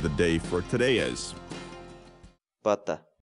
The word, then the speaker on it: pata: series videos where we teach you how to pronounce certain words in Quechua so our word of the day for today is butta butta butta in English the Quechua word but the